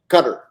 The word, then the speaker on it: Qatar: I mean, by the way, do you pronounce and Jay asks Qatar. In Arabic, it's Qatar, but it comes from down here, Qatar.